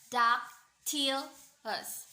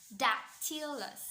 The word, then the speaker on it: dactylus: So the Latin word of dactyl is dactylus, which itself has stress pattern of dactyl, dactylus, dactylus.